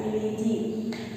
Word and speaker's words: Felidae: Alright, so you're going to pronounce it as Felidae.